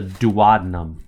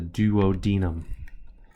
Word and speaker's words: duodenum: It's called the duodenum, or you might pronounce it the duodenum.